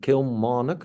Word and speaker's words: Kilmarnock: It's the Aberdeen to beat Kilmarnock. I really find it hard to pronounce it correctly. Correct me if I'm wrong. Kilmarnock. That's correct.